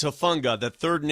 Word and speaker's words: Hufanga: It's Hufanga, not Hufunga.